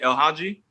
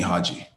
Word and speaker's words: El Hadji: Is it El Hadji? Yeah, but people call me Hadji.